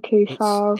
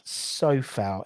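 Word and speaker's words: Coufal: Kufal. It's Sofal. It should be Kufal, but it's pronounced the same as Socek.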